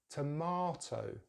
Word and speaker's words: tomato: So in British English, it's tomato, tomato. So the stress is in the same place as American English, the second syllable, but we're using the long vowel sound, R, R, tomato, tomato, tomato. American English, they have a slightly different vowel sound in the second and the third syllable, so it says tomato, tomato. So British English, tomato, tomato. Really drop that jaw for that second syllable, R, tomato.